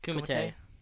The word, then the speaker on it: Kumite: but it's the Red Bull, how do you pronounce that? Kumite.